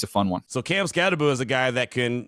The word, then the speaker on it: Skattebo: Matter of fact, for the longest, because you see the way his name is spelled, people thought it was Cam Skattebo. No, it was Cam Skattebo.